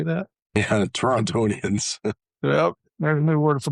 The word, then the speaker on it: Torontonian: Yeah, Torontonian.